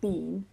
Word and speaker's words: been: It didn't flag stomach, but it did flag bin, which I pronounced bin, not bean, which is the correct and natural pronunciation that a native speaker uses in normal speech.